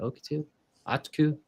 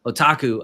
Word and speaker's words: otaku: uh what's it oku how do you say that okuu it's the anime yeah oh I wouldn't add on it added otaku there we go I knew I wasn't saying it right otaku added tour box aaku